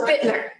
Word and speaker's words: Buettner: Buettner, right? Last name, is that how I pronounce it? Bittner, but that's okay. It's so hard.